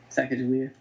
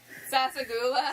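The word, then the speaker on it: Sassagoula: Sacagawea? Sacagawea? What? Sasagula?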